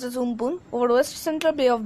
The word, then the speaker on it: Amphan: The super cyclonic storm Amphan, which is pronounced as Umpun, over West Central Bay of Bengal moved nearly